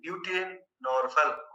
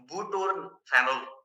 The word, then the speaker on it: butorphanol: Nalorphine, pentazocine, and butynorphal. Phenol. It's a butorphanol. A bit difficult to pronounce.